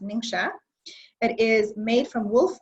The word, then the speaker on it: NingXia: still the morning here this is an antioxidant ninja drink is what we call it but it's actually pronounced ningxia it is made from wolf berry and a